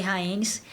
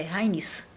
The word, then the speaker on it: Rhaenys: raça eu queria falar eu sempre falei rhaenys e aí por acaso eu vi um vídeo e eu vi como é que se pronuncia corretamente é raiz então a filha do